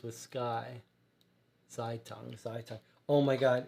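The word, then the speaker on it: Zeitung: pronounced it wrightberg um so first part rhymes with sky but now i'm getting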